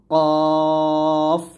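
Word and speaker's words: قاف: তারপর আসেন কাফ এবং কফ, খুবই গুরুত্বপূর্ণ দুইটি হরফ। এই দুইটা আমরা অনেক ভুল করি। তো দেখুন কাফটা হবে পাতলা আর কফটা হবে মোটা। এটা হচ্ছে কাফ আর এটা হবে কফ, মোটা করে।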